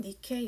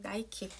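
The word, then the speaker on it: Nike: 또 다른 작품 니케 여신상입니다. 니케 스펠링 니케 이렇게죠. 그래서 나이키 우리가 알고 있는 그 브랜드인데요.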